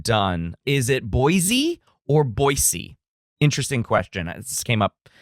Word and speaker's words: Boise: And so if you want to fit in in Boisey, you use the S sound. So Boisey.